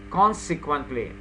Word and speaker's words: consequently: Now you have to emphasize the first syllable. Consequently. Consequently. Consequently. Consequently. No. The first syllable is accented.